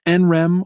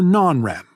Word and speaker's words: NREM: sleep and nrem sleep which you can pronounce nrem or non-rem rem comes from the